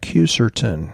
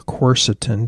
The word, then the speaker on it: quercetin: reduced by herbs like Q certain or quercetin depending on how you want to pronounce it and that's in many